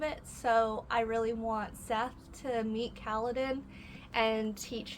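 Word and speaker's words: Szeth: I think that's how you say it, S-Z-E-T-H, Seth.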